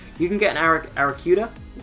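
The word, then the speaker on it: Arrokuda: will just drop you can get an Eric Eric kuda is how you pronounce its previous evolution as early as rap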